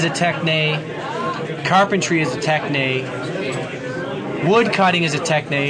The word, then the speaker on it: techne: Giving names is an art, an A-R-T, or a techne, T-E-C-H-N-E is how we'd spell it.